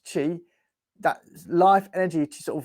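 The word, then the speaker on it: qi: allow Life Energy called Chi interestingly sort of spelled q i but it's pronounced Chi that life energy to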